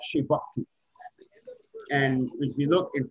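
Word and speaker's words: Chebucto: This Shebuktu Road, Shebuktu Road, Halifax.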